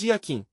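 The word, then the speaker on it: Jakin: Qualquer iniciado sabe que a palavra não se pronúncia como está escrita, se diz Yaakim, ou seja, Y, a K, I, N, e Aquim e Boaz.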